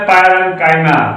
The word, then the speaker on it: parenchyma: China मत पढ़िएगा, गलत प्रोनाउंसिएशन है, तो टीचर भी गलत बता रहा है, तुम लोग भी गलत पढ़ रहे हो, तो आप लोग गलत नहीं पढ़ेंगे। चाइना पढ़ते हैं, एक गलत प्रोनाउंसिएशन है। सही प्रोनाउंसिएशन है पैरेन्काइमा, कोलेनकाइमा, स्क्लेरेन्काइमा।